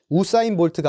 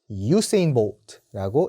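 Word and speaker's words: Usain Bolt: 100m, 200m, 400m까지 다 제패를 한 자메이카의 전설적인 육상 선수 우사인 볼트가 아니라 유세인 볼트라고 읽어주시면 됩니다.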